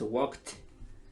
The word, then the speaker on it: walked: Por ejemplo, en walk, el pasado de walk es walked. Suena ct. Es bien extraño, pero se saca por contexto. Muchas veces nadie escucha la T al final, pero sí por contexto.